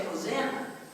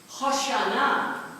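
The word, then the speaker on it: Hosanna: we don't say it that way we say hosana hosana is the way it is pronounced and H means Deliver Us save us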